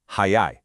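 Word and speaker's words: 早い: So both of these words are pronounced exactly the same, hayai, but look at the kanji.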